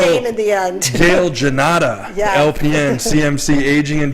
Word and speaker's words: Gannotta: It's Italian, Gannotta. Gannotta.